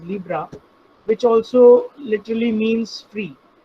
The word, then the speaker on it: Libre: It is seen as Libre but pronounced as Libra, which also literally means free.